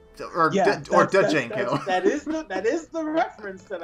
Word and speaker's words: Django: I'm pretty sure the D is silent. So, Jimon Honsu. Yeah. Okay. It's like Django. Django.